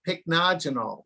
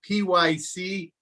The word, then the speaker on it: pycnogenol: maritime pine tree and it's a supplement called pycnogenol that's spelled p-y-c-n-o-g-e-n-o-l pycnogenol that has been shown to not only